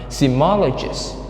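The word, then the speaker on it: seismologists: the first word is semologists semologists okay semologists sigma so there are four syllables and the stress is on the third one symmologist simologist and the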